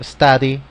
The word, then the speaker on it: study: Podemos pronunciarlo study, ¿verdad? Study. O podemos disfrazar esta D y ponerle esta R y pronunciarlo study, ¿verdad? Recomendación, bueno, si lo pueden hacer con la RI sería una pronunciación más acertada, study, ¿verdad?